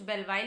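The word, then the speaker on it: Belvile: और जो बेलविल, guys देखो, कुछ इसे बेलविल प्रोनाउंस करते हैं, कुछ बेलवाइल प्रोनाउंस करते हैं। सो प्लीज आप लोग इस चीज़ के ऊपर कमेंट बॉक्स में बोलना मत कि बेलवाइल बोल रहे हो, बेलविल बोल रहे हो।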